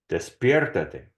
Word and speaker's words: despiértate: If you're confused about the boot verb part because it has two E's, if it's a multi-syllable verb, it will always be the E that is closest to the ending. And so despertarse will be despier, and it's despiértate.